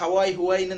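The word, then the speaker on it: Huawei: பத்தி எல்லாருக்கும் தெரியாம இருக்கு huawi-ன்னு நிறைய பேர் ஒரு ஒரு உச்சரிப்புல சொல்லுவாங்க நான் hawai தான் சொல்லுவேன் யோட மாடல் இந்தியால பாத்தீங்கன்னா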